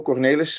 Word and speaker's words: Kornelis: this works uh indeed the correct pronunciation of my name is slightly different cornelius but i listen to